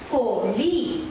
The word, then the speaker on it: கோழி: இதை நாங்கள் உச்சரிக்கும் போது எங்களது நாக்கு மேல் நாசியை பெருடி கொண்டு வரும். எனவே சரியான உச்சரிப்பு கோழி.